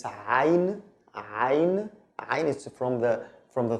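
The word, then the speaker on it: عين: It's pronounced the. Okay. The next one is ayn.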